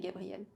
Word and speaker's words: Gabrielle: Et souvent les Russes, ils font une faute d'ailleurs quand ils m'appellent Gabriella, alors que c'est pas français, on dit Gabriel tout court.